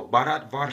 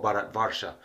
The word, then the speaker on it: Bharat Varsha: and higher chakras but that's another video so Barat Vara is the name of the sphere of the